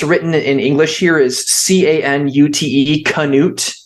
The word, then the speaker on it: Cnut: the way it's written in English here is Canute, Canute. It's basically written phonetically. His name is actually Cnut, Cnut is how it's actually written, or sometimes Knut in like Old Norse.